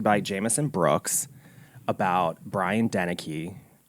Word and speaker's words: Deneke: It came out in 2017, directed by Jameson Brooks, about Brian Deneke. Deneke.